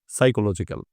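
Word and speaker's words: psychological: মানে মনস্তাত্বিক পি দিয়ে শুরু কিন্তু এস দিয়ে উচ্চারণ শুরু সাইকোলজিক্যাল ইট ইজ the name of feeling সুখ হচ্ছে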